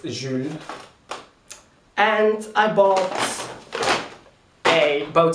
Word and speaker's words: Jules: mom and thought and I thought it was actually jewles um pronounced in a English way however it is a French brand so it is Je and I bought a